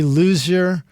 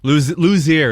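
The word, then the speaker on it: Luzier: Hot Chili Peppers, Ray Loser of Corn. Did I pronounce that name right, Charlie? Lucier. It's like Lucier. Ray Lucier. Okay.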